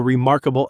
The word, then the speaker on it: remarkable: Pronunciation, four syllables. Remarkably, the stress is on the second syllable and that R sound in mark should be strong and American really let your tongue curl back.